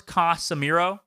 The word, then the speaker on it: Casemiro: about him and how, it's 3 syllables, Casemiro.